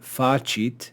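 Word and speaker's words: facit: to see is that we have the verb fachit which would be accented on the first syllable because it's a two-syllable word and we've got this other word joined to it to make it a compound verb but we don't accent that word that's joined we simply retain the accent of the verb itself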